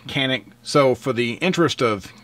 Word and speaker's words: Canik: pronunciation of this firearm basically if you're from turkey if you're over there and you were talking about this gun um i believe it's uh sonic or shanique is the way they pronounce it um but here in america even by century arms the importer it goes by kanik so for the interest